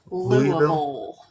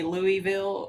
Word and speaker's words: Louisville: or I don't know how how did it pronounce that Lille Lille there you go I don't know guys if you're not from Kentucky it's probably Louisville or yeah I think that's how non- kentuckians say but but if you're